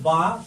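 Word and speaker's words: باء: এরপর হরফটা নাম হলো বা, শক্ত হবে, শ্বাস বন্ধ থাকবে, মাকড়াস 15 অনুযায়ী হরফটাকে উচ্চারণ করতে হবে।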